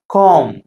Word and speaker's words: comb: இது எப்படி வாசிக்கணும் அப்படின்னா calm. B வந்து silent.